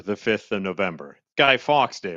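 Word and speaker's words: Fawkes: Guy Fox day, right? You say it Fox.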